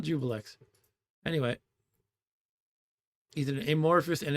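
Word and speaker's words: Juiblex: correctly and they say jubillex. Jubilee. I've spoken to people who say that. No. No. I don't know if you say Jubillex or Jubilee, but it's not Jubilee. Jubilee. Jubil. Not Jubillex.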